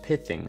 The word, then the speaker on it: pithing: That first word is pronounced pithing, and it comes from the real-world medical procedure